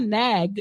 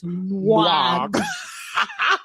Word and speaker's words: Nwagbara: It's not Nag. It's Nwag.